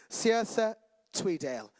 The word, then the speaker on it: Sia Tweedale: fin Thor Brian and I had to ask earlier Sia tweedale was that good that was a correct pronunciation Finn works for Equity